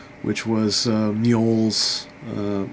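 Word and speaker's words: Mjoll: s which was uh mol's uh I believe that's how you pronounce her name m j o l l that's mu right to find her long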